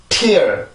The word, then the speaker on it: tear: 자, 그러면 발음을 한번 해볼게요. tear, tear, tear.